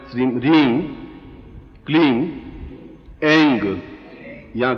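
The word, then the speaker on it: ऐं: एम नहीं बोल सकते, एंग।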